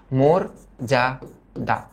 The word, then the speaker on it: মর্যাদা: এটা কি এটা হচ্ছে মর্যাদা নট মর্যাদা মরজাদা আর লাস্টেরটা কি লাস্টেরটা